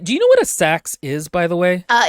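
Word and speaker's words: seax: but here it's but it's pronounced sax um so who mentioned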